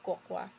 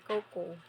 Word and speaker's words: cocoa: po ito ay Cacao Coca yun ay kung papaano natin tawagin siya ito yun Cacao or COC pero ang tamang pronounce daw nito ay coco so ito Ayon sa